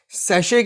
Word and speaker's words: sachet: अब इसके बाद में आप देखो कि एक शैम्पू का डब्बा, एक मानो आप सैशे के अंदर, ये जो स्पेलिंग है SACHET, ये सैशे, छोटा पाउच होता है ना, उस तरीके से।